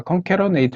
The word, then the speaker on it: CONCATENATE: 에이드 함수를 적용 했죠 네이버와 악사 전에 보니까 검 캐러 데이트 라고 발음을 하더라구요 인 다이렉트 라고 저는 함수인 달에 탐스러워 하는데 자 미국식 영어 로는 인 디렉트 저거 뭐 어쨌든 저는 컴 캐러 네이트 인 다이렉트 라고 부를 겁니다 그래서 이렇게 텍스트 1